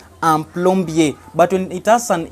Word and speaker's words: plombier: get the pronunciation, So words in French, if it ends with R but it doesn't have an E, don't pronounce the R.